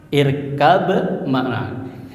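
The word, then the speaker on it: اركب معنا: irkab makna ketika ba sukun bertemu mim hidup maka dibacanya irkam maana di surat apa itu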